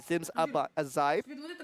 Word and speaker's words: Zims Ajaib: I had to really confirm that with our Indonesian caster. Just to make sure I pronounced that correctly. It is going to be Zims Ajaib.